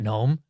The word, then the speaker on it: GNOME: But to put it quickly, I'm not Gnome. Google Chrome. Oh, Gnome rhymes with Chrome.